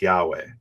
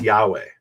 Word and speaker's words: Yahweh: We know it's y-va and then the last one is h which is usually silent at the end of a word. Okay, so how do we pronounce that? So the scholarly guess is that it's Yahweh and that's based on